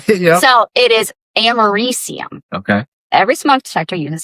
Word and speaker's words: americium: So it is americium.